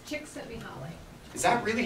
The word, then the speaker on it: Csikszentmihalyi: Christine, how do we pronounce his last name? Csikszentmihalyi.